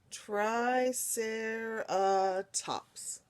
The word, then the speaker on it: triceratops: So this word right here, you say it triceratops. It tells you that there. Triceratops. The ser is the emphasized one.